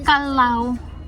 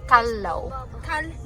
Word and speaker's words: Callao: Akala ko goodbye kalaw the correct pronunciation is kalau kalau where's my